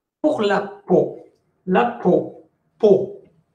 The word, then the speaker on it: peau: Peau. P-E-A-U se prononce peau.